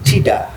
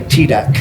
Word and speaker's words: tidak: With Indonesians, there is that final consonant, because if I saw the word tidak, I would say tidak, Tidak. because there's a K at the back. Whereas Indonesians, tidak.